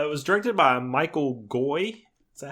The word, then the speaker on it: Goi: Either that or it's Gua. I'm not sure. It's Gua.